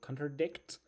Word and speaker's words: contradict: Contradict, the stresses on the last syllable, as you can see here, you know. And it's verb, so contradict uh means for one story to be so